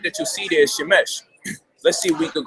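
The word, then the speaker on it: שמש: Shemesh. Shemesh. Shemesh. There you go. So now we got the pronunciation.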